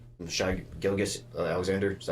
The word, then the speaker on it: Gilgeous: We get Shy and like Shy Gilgeous Alexander. Is that how you say it right? Side Gilgis. Gilgeous.